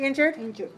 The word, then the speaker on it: injured: right chapter one injured where's the stress in this word injured yeah in one sec second injury three three two three two nope no try again two one one listen injured injured look at me injured injured injured if it's three two